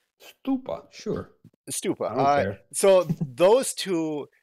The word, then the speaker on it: stupa: gota be honest I don't know how to pronounce that is it stupa how is it no it's stupa sure stupa so those two you're picking these